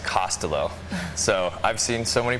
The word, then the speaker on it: Costolo: forward for Twitter but Dick's last name is pronounced costelo so I've seen so many pronunciations of the